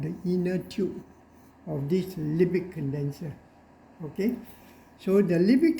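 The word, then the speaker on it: Liebig: what we call a lipid condenser lipid is spelled as lie b-i-g sounds like light bigger lie like right here so it is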